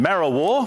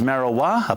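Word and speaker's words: Marrawah: top of 20 and mara war which is often mispronounced as marijuana partly cloudy day and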